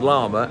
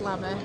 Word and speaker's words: LAMA: So a bit of a mouthful, and it's not pronounced LAMA as some people do, is it? No, it's LAMA.